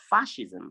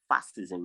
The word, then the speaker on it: fascism: it in fashion fascism i said fascism not fastism i don't know how you pronounce that word fascism and then we